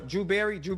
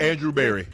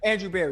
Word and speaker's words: Andrew Berry: my pick, this is brother Drew Berry, right? Is that how you say his name? Andrew Berry. Andrew Berry, excuse me.